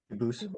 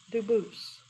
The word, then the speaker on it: Dubus: I know a family with that the same exact spelling in America and they do pronounce it dubis, but you said you pronounce it dubus as the original dub as the original French. French. Yep. Very well. Duboose.